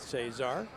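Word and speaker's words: Szczur: And you'd look at his name and you would never figure out how to pronounce it from the spelling, but there you have it, Matt Cesar.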